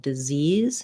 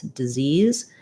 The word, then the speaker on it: disease: like dis e um so same sounds this one just doesn't have the z at the end but the syllable stress is quite different disease disease and dizzy four words that have